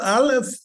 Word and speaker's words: aleph: there is high No, the Aleph is a silent letter. So, but this is how you write it. Aleph is written in, this is called a glottal stop, right here.